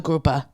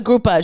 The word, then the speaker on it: grouper: going to have the groupa and I say it say it just like that yeah because I'm thinking groupa spelled with an a at the end yeah cuz that's how you've been taught yeah yeah and the